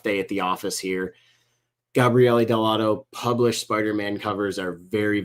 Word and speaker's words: Gabriele Dell'Otto: And when the Italians hear us say Gabriele Dell'Otto, they all go crazy. Oh, don't say it like that. That's what I say. But, what you got to really put the Italian flair on it, Bill. Gabriele. Exactly. You got to really, lean into it.